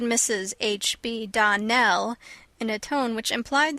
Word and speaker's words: Donnell: morning connected with the Donell children Clarice almyra told me that you pronounced our name Donal now miss shely the correct pronunciation of our name is Donell Accent on the last syllable I hope you remember